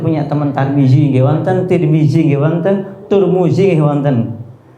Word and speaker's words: Tirmidzi: riwayat Tirmidzi kan gitu L tirmidziya pakai Dal ya sebenarnya Tapi Indonesia Kadung pakai Z nanti ada juga yang bacanya turmuzi Pak turmuzi saya juga